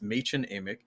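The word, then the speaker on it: Mädchen Amick: for Donna now uh ma amch that's always the the tough one to pronounce right but yeah I actually looked that up and um it was pronounced ma Amic as Shelley Johnson a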